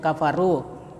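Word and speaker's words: كَفَرُوا: Kemudian kafaru ya ro berbaris domah bertemu dengan wau sukun.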